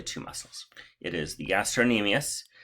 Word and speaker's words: gastrocnemius: muscles it is the gastrocnemius cn is silent i have a silent